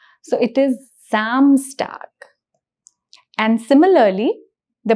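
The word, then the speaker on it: Samstag: and zont so Zam if you notice the pronunciation of s becomes Z so it is samstar and and similarly the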